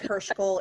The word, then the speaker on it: Heuschkel: It's Heuschkel. It sounds nothing like it's spelled.